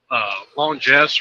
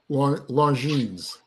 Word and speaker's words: Longines: Longines or something like that. Longines. Yeah. Longines.